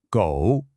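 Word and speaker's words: 狗: So, the word for dog in Mandarin is go, and it's pronounced go. It's just one syllable, and the tone kind of dips down and then comes right back up.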